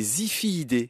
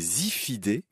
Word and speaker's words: Ziphiidae: à bec, qui s'appelle, c'est assez joli, les Ziphiidae. Ça s'écrit avec un Z, Z-I-P-H-2-I-D-A-E, les Ziphiidae, baleines à bec.